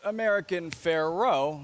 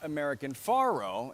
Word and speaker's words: American Pharoah: if it was fair well it was American Pharaoh not American Faro and it's spelled the same and he's by American